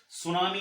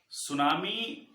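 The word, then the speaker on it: tsunami: ठीक है, सुनामी, इसका स्पेलिंग टी से शुरू होता है और यह एक जापानी शब्द है। सुनामी एक जापानी वर्ड है जिसका मतलब होता है हार्बर वेव।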